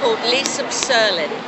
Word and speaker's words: Leesub Serln: yeah oh yeah now if you would please pronounce the name of the character because I've yet to do so correctly now i'm lisa berlin and that originated from the toy which came